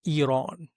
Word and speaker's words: Iran: It has influences from Zoroastrianism, poetry, architecture, and just for edification, it's actually pronounced Iran and it's officially called Islamic Republic of Iran, a theocratic state that is located in the Middle East.